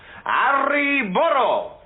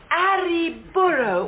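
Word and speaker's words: arre burro: their sides and shout, "Arri burro!" Oh, and you must remember to roll your R's. Now, that's essential. Arri burro.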